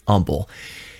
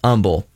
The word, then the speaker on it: Humble: from delorean motor company here in houston technically humble those of you who are not from houston